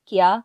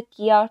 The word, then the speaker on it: Kia: company's factories in guangzhou in korean the pronunciation of the english word gear and the company name kia are almost the same so he used kia